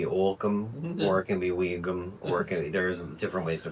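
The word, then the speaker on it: Ogham: It's not Ohm. It's Weegum. I'm like, I happen to know that it is pronounced Weegum.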